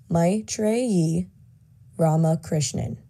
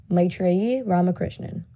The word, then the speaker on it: Maitreyi Ramakrishnan: my name drumroll please maitreyi ramakrishnan maitreyi ramakrishnan that's how i like to say it if i want to